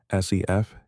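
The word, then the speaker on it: Cepheid: The second rung uses a type of pulsating star called a sefeed variable pronounced sef.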